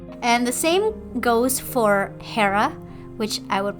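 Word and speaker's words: Ήρα: And the same goes for Hera, which I would pronounce as Hera or Hera in Greek, and Zeus, which is Zeus as well.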